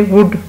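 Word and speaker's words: would: फिर है when you request you से वुड you help me to read this, तो एल इसमें भी साइलेंट है।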